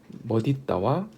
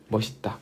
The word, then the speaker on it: 멋있다: 자, 그래서 이 멋있다의 올바른 발음은 두 가지, 멋있다와 멋있다.